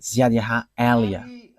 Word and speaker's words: Ziad Eliah: And that is not a Malagasy name, but that is the name from us, and that is my name, so I pronounce it as my father pronounced it, Ziad Eliah.